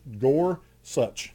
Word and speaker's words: Gorsuch: so Neil Gor Gor Gor such as how it's pronounced Gorsuch but justice Gorsuch wasn't